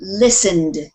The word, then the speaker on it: listened: end listened listen listen the t is also kind of Silent you don't really pronounce that t listen listen listen don't